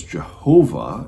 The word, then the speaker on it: Jehovah: you'll hear that as jehovah and that's just a transliteration of that with the y's to the jays and so that's where